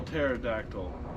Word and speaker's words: pterodactyl: pterodactyl okay i guess the p is silent oh that's when you spell pterodactyl it starts with a p it's like a u